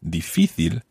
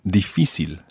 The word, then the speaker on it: difícil: In the text, María José said, en Canarias no se dice difícil, sino difícil.